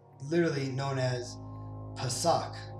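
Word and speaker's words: Pesach: it's literally known as pasak right right that's how you pronounce it in the hebrew right uh and if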